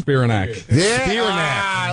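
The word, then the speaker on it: Spiranac: Spirinac.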